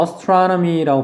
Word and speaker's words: astronomy: 그 다음 주어진 단어가 astronomy라고 발음합니다. 강세는 여기 있고요. astronomy. 근데 여기 ASTRO, astro라고 하는 요 단어는 무슨 뜻이냐면 이게 별이라는 뜻이에요.